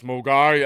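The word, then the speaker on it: Milngavie: It's cultural, because whenever it came on the train, there was always some person that would go, it's Mulgari, and everyone like, and that was a cultural thing.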